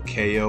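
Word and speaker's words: Kayo: uh ko sports right so ko which is spelled k-a-y-o right so if you're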